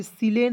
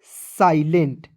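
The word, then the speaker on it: silent: ई एन टी तो इसे बहुत लोग सिलें पढ़ लेता है नहीं एस आई इसे पढ़ेंगे साई ठीक है साई एल ई एन टी लेंट क्या हो जाएगा दोस्तों साइलेंट क्या पढ़ेंगे साइलेंट पढ़ा जाएगा देखिए एकएक नियम को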